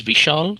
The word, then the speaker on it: Vishal: My first name is Vishal. It's spelled V like Victory, I-S-H-A-L.